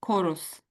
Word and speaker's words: chorus: Chorus. Yeah, that's pretty much it. Yes, That's chorus. it. Chorus. So I'm saying core. So, so the H you might say is silent.